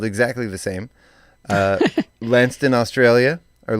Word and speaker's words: Launceston: Szczecin, Poland, Gloucester, or I guess that would be Gloucester, England, because it's spelled exactly the same. Launceston, Australia, or Launceston, Australia.